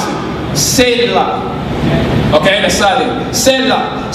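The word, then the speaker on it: Selah: okay the rim say long that's how you pronounce it seyla okay an asylum set up so did step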